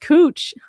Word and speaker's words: Couch: We have a couch street that's pronounced cooch.